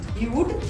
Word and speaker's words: Hue: Can pronounce it as Huey. Sla, Huey by Sla. is now the new name of the space. Yeah. But the actual name is Hue by SLA.